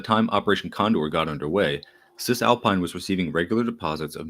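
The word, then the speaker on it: Cisalpine: Uh, Sis Alpine is spelled like cisgender uh with alpine at the end. Cis Alpine had been had been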